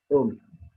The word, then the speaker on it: ohm: Bacanya ohm.